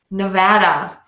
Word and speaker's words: Nevada: lot of people have been to this state Nevada you might have been there to go gambling